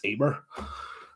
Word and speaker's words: Emer: Her name sounds like it's spelled Emer, but it's actually it's Irish. It's Emer.